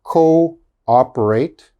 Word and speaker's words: cooperate: the last line okay this says double o but the double o they are pronounced separate okay they are not pronounced together so this word is co-operate co-ordinate cooperate coordinate okay